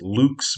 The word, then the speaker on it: Lux: I suppose I should pronounce it lux, but we're Americans, so we say Lux.